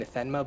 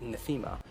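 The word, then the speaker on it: Nathema: the planet netha netha or NAA I've been pronouncing it wrong this whole time I've been saying nma but as someone pointed out on the Reddit forms it's actually Natha and on this planet is where visette as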